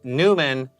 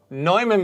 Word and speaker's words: Neumann: This boundary condition, if you say Newman, that's not good enough. Neumann boundary conditions.